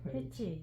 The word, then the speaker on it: 해치: 해치라고 발음해도 되고 해태로 발음해도 돼.